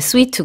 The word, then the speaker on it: suite: 음 여러 개라는 뜻의 스위트 구요 우리가 보통 호텔 스위트 할 때 그 스펠링이 랑 같습니다 suite 2 역 그 근데 스위트 sweet 랑 발음은 똑같지만 점에서 아돌 드세요 명 예 전혀 다른 단어입니다 이렇게 안즉 써 화장이